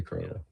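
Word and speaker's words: Croley: Yeah, just no W. It's not Crowley. Crowley.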